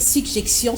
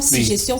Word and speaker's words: suggestion: des dire suggestions c'est-à-dire il faut insister sur la première console console j'ai il faut que cette prononciation se fasse suggestion mais beaucoup de gens disent chez suggestion si gestion si gestion c'est pas oui la deuxième lettre double la lettre G qui est double on insistait pas beaucoup